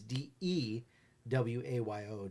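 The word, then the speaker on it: Dwayyo: they dewu D well another pronunciation is De w a yo Deo oh Deo so it's a Maryland Wolfman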